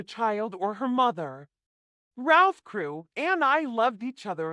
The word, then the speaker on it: Crew: Madame Pascal pronounced it as if it were Carew instead of Crew, but that might be merely a matter of pronunciation.